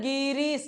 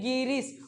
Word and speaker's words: गिरीश: उच्चारण क्या हो रहा बोलिए ना गिरीश गी पे भार पड़ रहा है ज्यादा नहीं गिरीश और वो गी शुरुआत